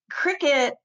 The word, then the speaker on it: Cricut: And cricket is spelled CRICUT. And for years, I was pronouncing this cricut.